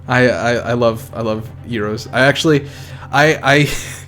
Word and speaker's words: gyro: like gyroscopic or whatever i've always called them heroes because that's that's you know how it's pronounced over there but i've every time i say that here people just be like you mean gyro so i just started